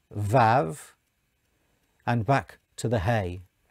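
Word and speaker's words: ו: So you have the letter below, which is pronounced Yud, the letter below pronounced He, the letter below which is pronounced Vav, and back to the He.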